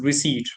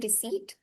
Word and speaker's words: receipt: uh but it is receipt right yeah it's received P is silent I think yes the P is silent and you do not you have to pronounce it as receipt it's simple but yes